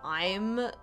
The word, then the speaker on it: AI: So I'm very excited just knowing that alone. I will be going into this game blind. The only things that I do know about this game is that it's pronounced I, and that we'll be